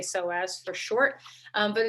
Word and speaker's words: psoas: of you know this so as it's spelled p-s-o-a-s so if you're looking